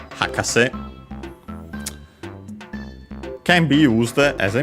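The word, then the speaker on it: 博士: On its own, the meaning would be expert, learned person, and this would be accented on the first syllable on the ha, hakase.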